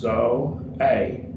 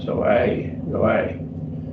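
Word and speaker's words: ζωή: Again, we have 2 vowels, so it gets 2 syllables. Zo-a. Break them up. Zo-a, accent theta.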